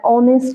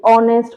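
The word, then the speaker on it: honest: হি ইজঅান অনেস্ট ম্যান। এখানে এইচটা আমার silent আছে। এ আমার উচ্চারিত হচ্ছে না। ও এনই এসটি অনেস্ট উচ্চারিত হচ্ছে।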